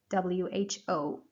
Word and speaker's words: who: Yeah, it is pronounced with the h sound. So this is a sound that we usually produce when we have the letter H, like horse. So here we also say who.